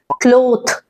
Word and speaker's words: cloth: हुआ this no this is wrong this is pronounced as क्लोथ थ थ this is pronounced as क्लोथ्स द